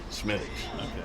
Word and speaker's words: Smithwick: that that uh is extremely popular here is Smithwick spelled Smithwick but pronounced Smithwick and uh the beer that Havoc developed with